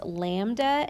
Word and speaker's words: lambda: is a new variable for us this is pronounced lambda and this is in meters i'm sorry not